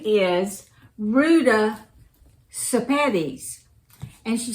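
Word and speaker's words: Sepetys: her name is Ruda sapedis and she says the way to know how to say her last name is to think of spaghetti and you say sapatics so I've been saying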